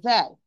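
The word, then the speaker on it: ذال: Let's return to the zal. My dear sister, we said that zal here, you remember? Zal, it's pronounced from tip of the tongue with the back of the lower central incisor.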